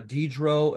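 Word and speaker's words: Diderot: matter uh where uh dedro and Condor say spelled like Dieter rot and condorsay they wrote the first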